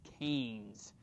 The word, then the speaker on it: Keynes: Even if it's spelled with a K-E-Y, it's Keynes.